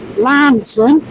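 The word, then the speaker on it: Launceston: so we've just left um Lon um pronounced locally as Lanson um and we're now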